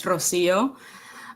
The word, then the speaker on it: Rocío: So, my name is Rosio Cleveland. If you want to pronounce it in Spanish, it's Rosio.